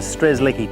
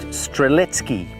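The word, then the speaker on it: Strzelecki: I was going down the stresslicky track pronounced streletsky by the Polish incidentally but about halfway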